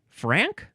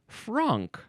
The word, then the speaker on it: franc: Now it says that I am supposed to pronounce it frank. It's f r a n c. I would want to pronounce it frunk.